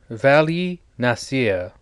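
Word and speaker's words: Vali Nasr: Vali Nasir, sure, that's how you say it, in addition to being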